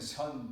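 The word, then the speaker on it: 선: Zen pronunciation is Japanese. So when the Buddhism was introduced about 200 years ago or 300 years ago, Japanese Buddhism was spread. So Zen Buddhism is Zen pronunciation. Actually, the Chinese pronunciation is Chan. So in China, it is called Chan Buddhism. In Korea is Sun Buddhism. Or in Korean, Sun Bulgyo. So Sun, Chan, Zen is the same pronunciation.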